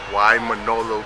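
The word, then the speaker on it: Waimānalo: We're on our way to Waimanalo Beach, like she says.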